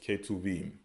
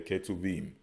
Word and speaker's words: Ketuvim: They refer to it as Ketuvim. Okay, Ketuvim.